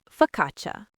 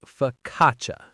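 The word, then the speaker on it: focaccia: And finally, the delicious bread fakatcha. F O C C A C I A. Here the CCI makes a ch sound and that first a is a schwa. So it's fkatcha.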